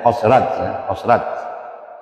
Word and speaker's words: Khazraj: yang disebut Bani Aus dan Khazraj, tapi kalau bacanya Khazraj.